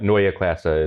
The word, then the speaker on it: Neue Klasse: We've seen so first of all, Neue Klasse, that is my terrible German pronunciation. In English, that just means new class. So for the remainder of the show, for the sake of not getting ourselves tongue-tied, we can just say new class. But Neue Klasse is the proper pronunciation.